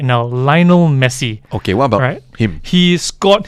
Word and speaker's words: Lionel: basket liner liner liner well it's leono leono Messi by the way uh Lionel actually you know I know